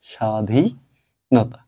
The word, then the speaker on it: স্বাধীনতা: ব ফলা আজকে দেখব শব্দের শুরুতে ব ফলা আছে এই ব এর উচ্চারণের ক্ষেত্রে কোন প্রভাব নেই আমাদের এটা লিখতে হবে